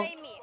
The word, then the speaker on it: Remy: Remy, R-E-M-Y. Number 3? Number 3, quarterback. R-A-M-Y. R-E-M-Y. Remy. Remy. Okay, so number 3 is Remy. Yu Heng Sun? He's 18. Okay, he's 18. So Remy is 18.